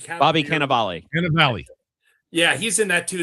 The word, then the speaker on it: Cannavale: Cannavale.